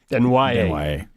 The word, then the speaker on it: Desnoyers: Desnoyers. Yeah. I'm glad they gave you the phonetics. I'd have screwed it up too. I went Desnoyer. Yeah. I'd have been Denoye. Denied. Denwaye. So yesterday around the rink, Pats released 20-year-old Ty Spencer Yep.